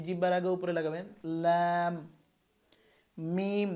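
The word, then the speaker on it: م: মিম, দুই ঠোঁট, দুই ঠোঁটের ভিজা জায়গা, শুকনা জায়গা। বা আমরা উচ্চারণ করেছিলাম ভিজা জায়গা থেকে, এবার মিম উচ্চারণ করবো শুকনা জায়গা থেকে।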